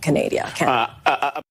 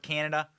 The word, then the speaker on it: Canada: in in step with Canadia uh she doesn't know what NORAD is. She doesn't know military terminology, basic military terminology. She doesn't know how to pronounce the word Canada. She called it Canadia. Oh man.